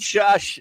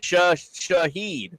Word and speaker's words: Shaheed: Shaheed. Thank you. Am I saying it right? Rashid. Yeah, it's just because Shaheed. you're adding an extra S in the middle of his name that's not even there.